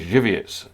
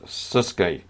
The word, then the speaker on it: Żywiec: Simon Mazer, the beer that you're talking about is Żywiec, not Suske.